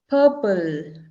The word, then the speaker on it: purple: Purple, P-U-R-P-L-E. That R is silent, purple.